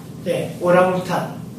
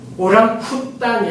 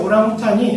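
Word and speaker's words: orangutan: 그 동물 중에 오랑우탄. 오랑쿠탄이 아니고 부드럽게 H가 처음 오면 좀 부드럽게 발음하죠. 그래서 오랑우탄이라고 발음을 합니다. 오랑이 인도네시아 말로 무슨 뜻입니까? 사랑. 쿠탄이 숲. 숲의 사랑이라는 뜻이죠. 이게 실제로 전 세계에서 오랑우탄이 서식지가 딱 두 곳이라고 합니다.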